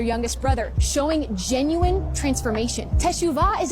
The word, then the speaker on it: teshuvah: It's pronounced teshuvah. Teshuvah.